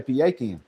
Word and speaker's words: pecan: I'm from Mississippi so I'm gonna say paan because nobody says that that work no I'm just gonna call it pean because that's how we say it we say pean so let everybody know